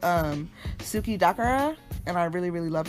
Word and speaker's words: suki dakara: for me but this one is called um suki dakara and i really really love it it's a